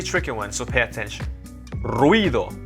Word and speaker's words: ruido: Ruido, not ruido, it's ruido. One syllable.